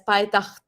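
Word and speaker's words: Payitaht: have come across that Pai Takht, if I'm pronouncing it correctly. In Urdu, we pronounce it as Pai Takht.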